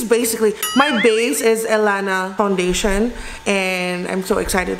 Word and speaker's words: Ellana: I have loved it by the way it's pronounced Alana and not so Alana reached out to me